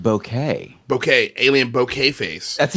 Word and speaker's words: bokeh: in the chat alien bokeh face i know that's hilarious and did you know it's actually pronounced bouquet bouquet alien bouquet face